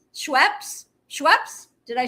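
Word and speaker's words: Schweppes: P P P P P P E S Schwipes. Schweps.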